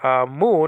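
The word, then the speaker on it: μ: It's pronounced in 3 different ways that I heard: mu, mu, and me. Mu and mu will be for biblical Greek. Me will be for modern Greek.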